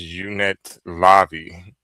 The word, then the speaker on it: Unetlanvhi: Okay, so it's pronounced the unetlanvhi.